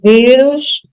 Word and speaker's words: vírus: Aí eu tenho vírus, que novamente é paroxítona, porque a sílaba tônica é no vi, e não na última, não é vírus, mas é vírus.